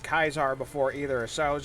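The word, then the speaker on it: Caesar: ketra before but i never knew it was pronounced kaisar before either so i was just like okay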